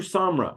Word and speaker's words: Samra: see and also please help me with name pronunciations um Samra bu Samra bu Samra okay yep yeah and you can call me